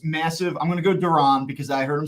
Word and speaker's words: Duran: I'm going to go Duran because I heard him say it, and I'm going to honor that pronunciation for now.